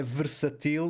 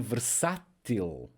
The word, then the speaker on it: versátil: temos aqui o assento não é versatil mas sim versátil ok e por aí